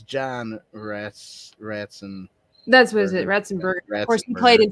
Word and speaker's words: Ratzenberger: Razenberger, is that how you say his last name?